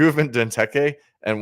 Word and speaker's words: Benteke: Benteke, am I pronouncing that right? Benteke? Yeah, Benteke.